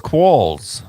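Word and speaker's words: quolls: right here a Wikipedia call yeah but the pronunciation is oh it's Qualls yeah Jesus I am Sanchez I only read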